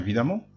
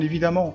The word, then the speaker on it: évidemment: Cédric, bien évidemment. Bien évidemment. Bien évidemment. Alors, ناخد بالنا هنا. قلنا évidemment، ما قلناش évidemment. الأ هنا نطقت كحرف الأ.